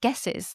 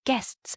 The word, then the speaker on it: guests: area when we have guesses." She's saying guess. How do you teach someone to say guests? It's this consonant cluster, isn't it?